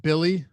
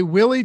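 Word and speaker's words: Willy: And then and someone mentioned that it's pronounced Billy. There's no way that's true. This is one where I 100%. You know how you say you refuse on some of these? Yeah. I mean, Basketball Reference has it as Billy.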